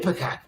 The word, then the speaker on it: Ipecac: Ipecac, right? Which is, some people pronounce it Ipecac, or Ipecac. There's different ways to pronounce it.